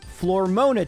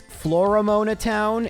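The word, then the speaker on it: Floaroma Town: And we can head to Flormona Town. What's that? It's Flormona Town. And if you don't pronounce the second O enough, people think you're saying Flormon.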